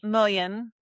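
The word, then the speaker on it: mullein: Mullen.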